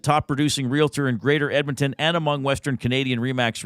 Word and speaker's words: Edmonton: I I've noticed sometimes when people say Edmonton they leave the D out I don't know if they're just saying it too fast but it sounds like Edmonton no it's not emont it's Edmonton you don't have to